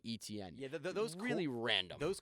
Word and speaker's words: Etienne: and he's like, yeah, my name's Etienne, but the way that it doesn't look that way when it's spelled, and he was kind of just like, yeah, I just told him, yeah, the broadcasters in college just say ETN.